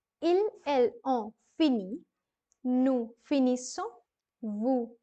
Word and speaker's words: finissons: I'm saying finissons. The double S is going to be sounded as se, and ONS is on.